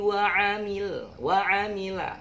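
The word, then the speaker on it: وعمل: Tapi jangan bacanya wa ambil, nanti dimarahin Pak Ustadz. Wa amila sholiha.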